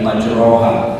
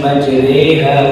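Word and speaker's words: مَجْرٰىهَا: dari hafaz dari asim tidak ada imalah di seluruh al-quran kecuali satu saja ketika kita membaca Bismillahi majriha waursaha ada enggak di antara kita yang baca Bismillahi majroha enggak bacanya Bismillahi majreha wa mursaha majreha itu saja satu-satunya di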